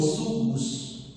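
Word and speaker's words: ζυγός: vamos a comenzar Entonces el yugo en griego en griego se pronuncia como sugus no sugos sugos es un instrumento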